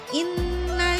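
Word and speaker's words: إِنَّ: Nah, ini di kata inna ada nun yang berharokat tasydid, maka itu hukumnya juga sama, yaitu gunnah musyaddadah. Cara membacanya harus didengungkan dengan sempurna dengan 2 atau 3 ketukan.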